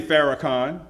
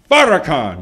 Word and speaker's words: Farrakhan: name Farrakhan some say Farrakhan but it's Farrakhan why because every time you listen to him don't he take us farther than we were in that very instance